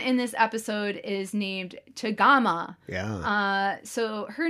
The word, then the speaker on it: chagama: And it is shorter in the name of the tea kettle, chagama.